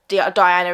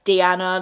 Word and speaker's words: Deeanna: I just correct people now, like just simply say it's not Diana, it's Deanna, like.